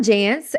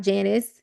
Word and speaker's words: Jance: So, I am Jance and, uh, it rhymes with dance. There is no I, it's not Janice, but people still to this day call me Janice every single day.